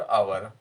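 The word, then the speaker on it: hour: इसी प्रकार ये जो एच से शुरू होता है, ये हिडन शब्द हैं, किंतु इनके उच्चारण में हम आ लगाते हैं शुरू में, ऑनेस्ट और आवर, तो इसमें एन शब्द लगेगा, एन आर्टिकल लगेगा।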